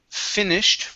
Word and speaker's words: finished: we have the word finished right here give me a short I instead of f it's